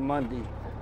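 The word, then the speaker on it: Munday: how you say that when the town's called monday except m-u-n-d-a-y monday texas i guess you say tuesday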